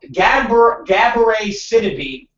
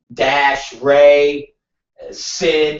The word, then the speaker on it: Gabourey Sidibe: I'm on the page where it says how to pronounce her name properly. So it's like spelling it. It's like fucking Gabourey Sidibe. Literally, it's Gab-E-Ray Sid SID-EE-BAY.